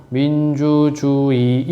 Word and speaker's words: 민주주의: 조항에서 뭐랑 봐야 돼요 민주주의는 두 번째 단어의 첫음절 이외의 의는 이로 여기지 그지 이일로 가야 되겠지 왜냐면 이때 의가 단어의 음절이 아니니까 그럼 얘 발음을 어떻게 하라는 얘기야 민주주의이 이것으로 발음하기 이걸로 발음해도 되고 의로 발음해도 되고 왜냐면 여기 할 수